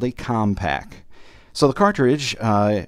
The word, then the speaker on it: Commpak: itself is called a compact so the cartridge uh although it's spelled differently it almost sounds like the computer company compact but uh in any